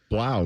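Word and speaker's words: Blough: Blau maybe, right? Blow like the Purdue quarterback.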